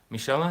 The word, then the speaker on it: Michaela: thank you, Gardner, Michela, is that how you say it? Michaela. Michaela.